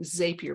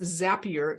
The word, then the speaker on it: Zapier: to call this thing zapier because it rhymes with Rapier but it's apparently pronounced zapier because it rhymes with happier and they create use